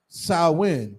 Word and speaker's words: Samhain: a Gaelic word pronounced Samhain.